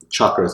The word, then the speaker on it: chakra: are all these different colors the other frats chakras it's pronounced light because it's a Sanskrit everybody say